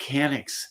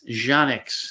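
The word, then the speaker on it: Canik: I like Canics, Janix, if you wanted to say it correctly.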